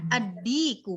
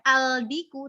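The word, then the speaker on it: الديك: Nah, di sini Mbak Diana, aldiku kita ini dal ini huruf syamsiyah. Jadi lamnya nggak nampak. Lamnya masuk ke dal. Bacanya adiku, bukan aldiku tetapi adiku.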